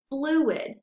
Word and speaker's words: fluid: But if you go right below, you have the word fluid. So then we have flu-id, and you have two syllables. You're breaking those vowels apart right in between the U and the I.